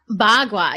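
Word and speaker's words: bagua: showed that card up well how do you pronounce it again ba kua ba gua yeah so ba gua actually the word ba means eight and Gua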